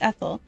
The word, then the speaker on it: Ethel: My name is Ethel. The th is pronounced by putting your tongue between your two rows of teeth.